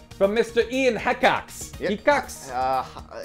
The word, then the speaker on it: Hecox: Hecox. I believe the E is silent. Cox.